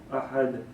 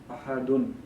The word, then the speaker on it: ahad: So Qul huwallahu ahad, or you could say ahadun, because once you're not stopping at the verse, that means you would pronounce the sound of the letter.